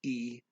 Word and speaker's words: y: And then the main word is y, which is pronounced e.